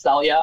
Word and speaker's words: Celia: will say one thing my name is technically pronounced Celia I don't like correcting